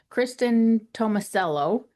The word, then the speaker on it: Kristin Tomasello: Kristen Tomicello. Is that how you pronounce it?